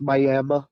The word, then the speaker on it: Miami: It's spelled like Miami, but it's pronounced Miami for some reason.